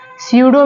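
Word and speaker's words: pseudo: next word है सूडो सूडो में जो पी है वो यहां पर साइलेंट है एंड नेक्स्ट वर्ड है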